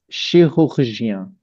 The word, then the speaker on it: chirurgien: So, chirurgien.